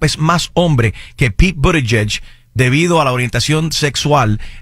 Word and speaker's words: Buttigieg: políticas muy buenas, o sea, el récord de Buttigieg, no sé si lo dije bien, no importa.